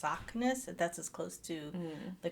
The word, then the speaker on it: Saknes: So it's Saknes. That's as close to the correct pronunciation.